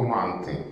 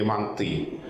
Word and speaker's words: манты: Вот чудеснейшее слово «манты» или «манты». Я этот вопрос задаю в разных аудиториях. И мне очень интересно, кто как на него отвечает. А кому из вас больше нравится ударение манты? Так, кому из вас больше нравится ударение манты?